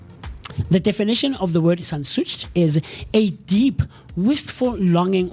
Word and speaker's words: Sehnsucht: And the word of the day for today, is sensucht. Sensucht. We'll find the pronunciation in a second, but this word is a noun, and how you spell this word is as follows: SEHNSUCHT.